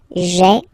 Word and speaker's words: j'ai: So j apostrophe a I. Remember, when you combine this a, I, you get the e sound, okay?